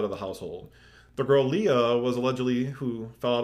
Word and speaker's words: Lia: was Leah, or L-I-A, which I guess would still be pronounced Leah. I think Leah. Yeah, or Laya.